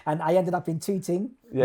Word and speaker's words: Tooting: And I ended up in Tooting. Yeah. Now I say probably not Tooting, Tooting. Tooting, yeah. Pronounce the T's.